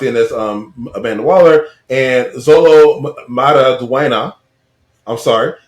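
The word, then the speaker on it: Xolo Maridueña: Viola Davis locked in as Amanda Waller, and Zolo Maraduena. I'm sorry. No, you said it right.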